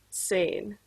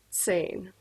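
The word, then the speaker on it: zehn: number for the day 10 is pronounced sane that might not sound exactly how you thought it would but that is how it's said sane all right here's our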